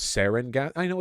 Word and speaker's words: sarin: though yeah it it is good too it's pronounced sarin gas I know it's pronounced sarin gas I